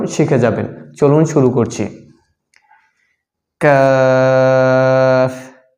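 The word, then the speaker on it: قاف: পাঁচ নং মাখরাজ হচ্ছে জিহ্বার গোড়া থেকে একটু আগে বাড়াইয়া তার বরাবর উপরের তালুর সঙ্গে লাগাইয়া আর পাঁচ নম্বর মাখরাজে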